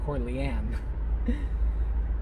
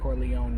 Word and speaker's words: Corleone: sounded like she says she says the last name wrong it sounds like she says cor leanne uh when they're introducing the uh vito corleone um not fundraiser uh